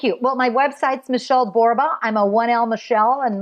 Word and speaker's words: Borba: Well, my website's Michelle Borba. I'm a 1L Michelle and my last name Borba rhymes with Zorba.